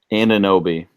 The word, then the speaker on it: Anunoby: Anunoby.